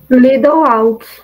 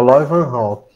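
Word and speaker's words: Leeuwenhoek: Lidl Hawk. É o Lloyd Van Hawk.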